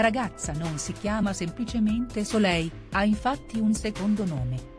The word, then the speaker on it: Soleil: di fatto affermato che il suo nome si pronuncia semplicemente sole senza alcuna l finale ha inoltre affermato che